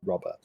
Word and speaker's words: Robett: It's Robett, but it's kind of pronounced Robert.